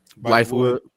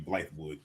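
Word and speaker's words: Bythewood: How do you say that one? Blythewood. I think that was a typo. It's supposed to be Blythewood. Blythewood, yep.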